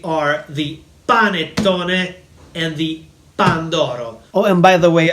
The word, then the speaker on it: pandoro: is not a panettone, this one is a pandoro. Pandoro. So, the two most popular Christmas desserts in Italy are the panettone and the pandoro.